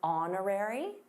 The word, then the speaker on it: honorary: By the way, did you notice the silent h in honorary?